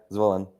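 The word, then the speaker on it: Zvolen: what was that and where is zvolin is that how you pronounce it yeah zwellen yeah it's actually in the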